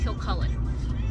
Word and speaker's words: Kilcullen: won't kill colin context my last name is kilcullen as in edward cullen with the word kill in front of it it's funny because my